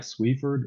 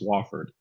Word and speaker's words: Swafford: So um so it's spelled like Swifford but it's pronounced Swafford. So it might No, it's fine. It might make it a little easier to pronounce. Um, but it's Swaffford. Pretend that that the E is not there.